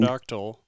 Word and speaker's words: pterodactyl: pterodactyl. The P is silent.